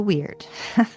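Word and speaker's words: wyrd: It's called the weird.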